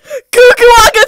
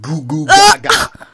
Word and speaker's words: goo goo gaga: I remember watching an old Team Madsen video, and she said, Goo Goo Waga G-A! Oh my God! What's goo goo hot you? Anna, that's pronounced goo goo gaga.